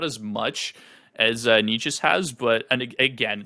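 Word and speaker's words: Nečas: Marty Necas, my boy. I know you think it's Necas, and it could honestly be Necas, but I've heard so many announcers pronounce him Necas, so I'm going with Necas.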